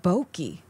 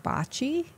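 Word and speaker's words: bocce: we walked by and he's like oh they have bokei we're like you mean Bachi it's like oh have I been saying it wrong my whole life but taller what were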